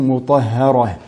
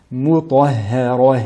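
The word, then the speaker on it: مطهرة: La lettre mim, donc amincie, la lettre ta emphatique, et la lettre ha, amincie, qui elle est située entre deux lettres emphatiques. Mutahharah. Et la dernière lettre ha aussi, il ne faut pas qu'elle soit influencée par la lettre ra qui la précède au niveau du volume. Mutahharah, et non mutahharah.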